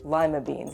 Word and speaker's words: lima beans: The pronunciation of the beans did not. So, it remains lima beans.